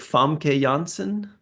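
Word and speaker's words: Famke Janssen: Fam Jansen.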